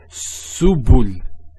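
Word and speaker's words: سُبُل: So to pronounce this has a S sound. So su, bu, and this is the lam, like the letter L. So subul, subul.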